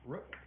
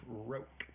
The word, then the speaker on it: Roque: That is not Rook. That is Roque. That's how you pronounce it.